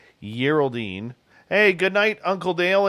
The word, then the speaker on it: Geraldine: I think she likes a soft G every now and again. Geraldine.